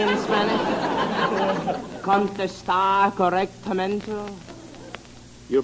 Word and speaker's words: correctamente: The R's. In Spanish, they must roll off your tongue. Listen to me. R con R cigarro, R con R barril.